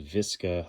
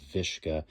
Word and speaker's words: VSKA: Century Arms, uh, VSKA, or some would pronounce it Visa. Others have pronounced it Vishka. I think Viska is a little bit more fun. Sounds kind of Russian.